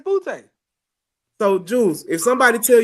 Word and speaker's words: Booty: because the people I've known with the same last name says Butte.